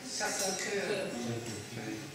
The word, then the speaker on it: Sacré-Cœur: How do you pronounce it? Sacré-Cœur.